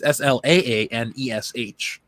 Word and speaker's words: Slaanesh: Also, they must use soul stones so their souls aren't siphoned out of because of Slaanesh. Or Slaanesh. I don't know how you pronounce that word. It's Slaanesh.